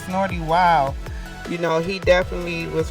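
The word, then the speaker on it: Snootie Wild: People pronounce it like they want to, but it's Snorty Wild.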